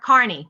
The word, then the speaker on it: Kearney: of our flight my brother brought from Kearney Carney Carney it's pronounced Kearney Nebraska from Thunderhead it's the farmageddon spiced pumpkin